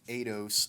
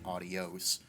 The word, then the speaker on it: Aidos: the rage in tech a dose cpu cooler it's kind of funny this is the second time recording this audio because I kept pronouncing it adios a little bit of